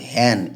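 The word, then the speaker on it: hen: হিন না কিন্তু হ্যান।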